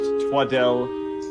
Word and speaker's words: Twaddle: love yes Dr Sydney twaddle it's pronounced twadell well congratulations sir you